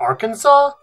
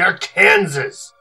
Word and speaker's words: Arkansas: Are you sure it's not Arkansas? I am an admiral. I think I know how to pronounce the name of this ship. It is the Arkansas.